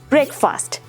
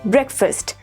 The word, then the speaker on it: breakfast: the last one is breakfast no my dear students it is breakfast not break fast right so always remember